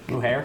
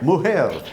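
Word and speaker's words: mujer: Muher. Muher.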